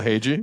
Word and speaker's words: Hage: Michael Hagee.